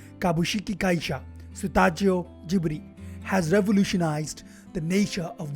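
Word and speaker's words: スタジオジブリ: Japanese pronunciation Kabushiki-kaisha Sutajio Jiburi has revolutionized the nature of world building, reinventing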